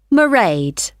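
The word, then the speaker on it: Mairead: see my assistant merade sorry how do you spell that it's m a i r e a d merade okay got that it's not a name i'm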